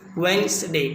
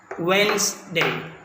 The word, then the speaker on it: Wednesday: the real pronunciation is wednesday the day remains silent here wednesday wednesday thus which here to the the underlying letter d remains silent thus let us come